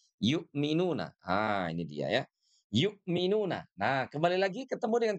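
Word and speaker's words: يؤمنون: Nah, huruf ya ini oke ini harus dibaca dengan sempurna. Yu yu ah jangan sampai ye tidak ye tapi yu yuk minuna yukminuna domu syafata ini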